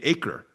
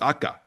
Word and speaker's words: Acre: About 10 minutes up the road is a place called Akka, or as Americans say, acre. But in Arabic, it's pronounced Akka.